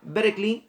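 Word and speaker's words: Berkeley: en la universidad de berklee se escribe ver que ley pero se dice berlín se empieza a dar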